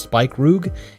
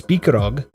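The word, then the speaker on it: Spikeroog: It looks like it would be pronounced spike rugg. It's speakerog.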